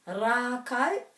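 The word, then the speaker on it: rākau: we're pronouncing this like and the macron's over this a so that's where we know the emphasis is our trees one of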